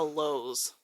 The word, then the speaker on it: Lowe's: Everybody says it's Lowe's, but it's Lowe's. Yeah. There's no S, like Kroger.